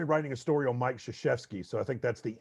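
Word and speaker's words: Krzyzewski: i i'm currently writing a story on mike shishevsky so i think that's the anti-kentucky story uh i did learn how to spell it to do that because uh the trick is crazy zeuski k-r-z-y z-e-w-s-k-i and uh i have bad news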